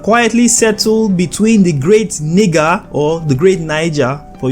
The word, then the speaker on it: Niger: This is the river Niger is speaking of, but the accurate pronunciation of this word is Niger, guys.